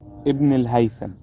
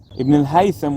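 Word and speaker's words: Ibn al-Haytham: there is a huge historical scientist who's called ibnel Haytham ibnel haitham was huge in the fields of physics math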